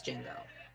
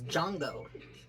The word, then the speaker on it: Jango: or did they replace Jingo I'm saying his name wrong it's Jango is there animation style